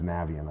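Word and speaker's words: Navien: There's a reason why they named it like that, but it's Navian, and I've always called it Navian.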